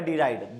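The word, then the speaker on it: deride: हंसी उड़ाना, किसी का मजाक बनाना, क्या है भैया इसका, दैट इज डिराइड, ठीक है, क्या वर्ड है, डिराइड, डी और राइड, ठीक है, मूव करना, ठीक है, टॉन्ट मारना, ठीक है, जिर करना।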